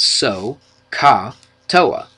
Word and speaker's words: SOHCAHTOA: it like this we say so Soh we pronounce it so Ka TOA or so Ka TOA so if you can remember that sohcahtoa in fact a lot of people kind of